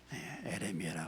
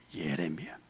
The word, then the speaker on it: 예레미야: 예레미야 제가 꼭 발음이 에레미야라 그런다고 자꾸 저를 갖다가 뭐라고 하는 사람이 있어요. 예레미야 1장 1절 같이 읽겠습니다.